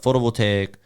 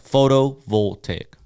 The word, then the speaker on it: photovoltaic: permit that permit number it'll say it's a photovoltaic back in 2015. how do you pronounce that photo will take solar yeah photo voltaic so photovoltaic yeah that is complicated yeah it's